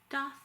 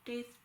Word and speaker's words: daith: I also got a piercing, a doth or daith piercing. People pronounce it differently.